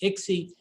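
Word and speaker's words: ICSI: sperm in the egg that injection is called i-c-s-i and pronounced ixy and it stands for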